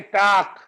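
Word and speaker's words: talk: कुछ शब्द है जैसे एल के इकट्ठा आ गया लास्ट में, जैसे पाक, ठीक है, ऐसे टाक, तो एल साइलेंट हो जाता है, के रह गया केवल टाक।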